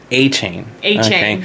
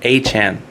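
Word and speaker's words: Achane: chain a chain so everybody was calling uh Devon a chain that's a good name but actually this week specifically on on Monday he came out and said that that's not how you pronounce my name it's Devon a Chan a Chan okay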